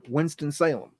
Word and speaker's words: Winston-Salem: winston-salem north carolina winston-salem we don't say winston-salem like it's you know two words it's like one word winston-salem okay i know it's two words but we we say it like it's just a hyphenated word okay it was originally called